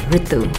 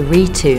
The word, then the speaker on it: Ritu: It's pronounced Ritu. Well, that's how my parents would pronounce it. A lot of people say Ritu, and that's wrong.